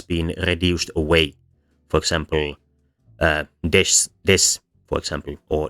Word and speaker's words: desu: For example, des, for example, or deshta. In both cases, the e and u in desu and deshita have been reduced away, and the amount of syllables has collapsed.